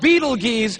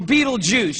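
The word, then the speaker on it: Betelgeuse: heard about this star it's called Beetle geese or Beetle Juice you can pick your pronunciation I'm obviously going with Beetle Juice and Beetle Juice is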